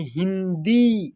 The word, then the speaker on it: हिंदी: फिर यहां पर देखिए ह में छोटी ई की मात्रा तो ये हो जाएगा ही और यहां पर बिंदी है तो इसके लिए थोड़ा सा अं का उच्चारण करेंगे हिन हिन नाक से थोड़ा सा ठीक है और यानी नोज से और द में छोटी वाला ई का मात्रा नहीं है बड़ी वाला ई का मात्रा है इसको खींच करके उच्चारण करेंगे यानी हि दी दी ऐसे ठीक है फिर यहां